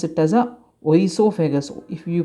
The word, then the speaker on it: oesophagus: uh o is there o is silent here okay try to remember this we start this pronunciation from e esophagus esophagus okay don't pronounce it as a oh esophagus if you pronounce it